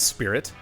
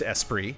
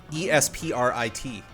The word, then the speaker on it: Esprit: begin corrections music please the lotus esprit is not pronounced as spirit it's pronounced esprit like i correctly did